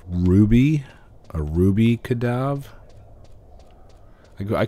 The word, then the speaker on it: Quadav: I've always pronounced it Kadav. But I've heard people say Quadav. Which I mean that's acceptable, but I don't know.